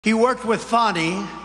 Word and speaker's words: Fani: he worked with fonnie even though it's spelled Fanny f a n i fny how about that